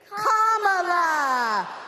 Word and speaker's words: Kamala: First, you say comma like a comma in a sentence. Then you say la like la la la la la. Put it together, and it's 1, 2, 3. Kamala.